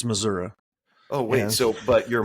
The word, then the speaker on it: Missouri: was from Kansas and my mom taught me how to say it correctly which is not Missouri it's missoui oh wait so but